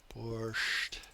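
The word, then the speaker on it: борщ: In the original Russian, there is no T at the end. It's just borch.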